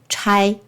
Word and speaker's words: 差: 那还有一个读音是差，差就是派遣去做事情，像差遣啊、差人啊、解差啊这些，公差、差事。还有一个读音就是念参，参差不齐的参。